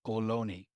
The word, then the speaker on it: Ohlone: The correct pronunciation would be Ohlone.